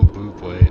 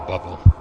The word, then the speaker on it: Bublé: The Michael Bublé. Oh my god, that's so funny. It's even funnier that Speech Chat pronounced it Michael Bubble.